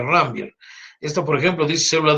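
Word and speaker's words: Ranvier: rambier eh nódulos de rambier se pronuncia rambier esto por ejemplo dice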